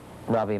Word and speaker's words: Rabi: My name is Rabi Maharaj. Rabi is spelled Ravi and it's short for an Indian name Rabindran.